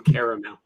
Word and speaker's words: caramel: saying it correctly because there's definitely two goddamn a's in caramel you mean i've talked